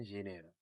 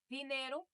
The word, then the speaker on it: dinheiro: Also, too, just a quick note, when you look at Portuguese, when you see the D is actually pronounced G. G. So instead of saying dinero, which is Dinheiro.